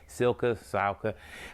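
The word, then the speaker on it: Cylka: It's run by a guy by the name of Steve Silka, I believe is how you pronounce his last name, C-Y-L-K-A, Silka.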